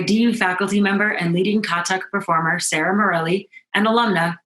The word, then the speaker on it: Kathak: Tonight, I'm thrilled to announce our next act, the Leela Dance Collective, led by DU faculty member and leading Kathak performer Sarah Morelli and alumna Carrie McClune.